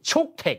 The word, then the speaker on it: Cuktech: นั่น ก็ คือ zmi chook Tech อ่า เรียก ให้ ถูก นะ ภาษา ไทย ออก เสียง แบบ นี้ เลย นะ zmi นะ ไม่ ใช่ ี่ี่ ุค เทค ด้วย นะ ไม่ ใช่ คุก เทค อ่า นะ ฮะ แล้ว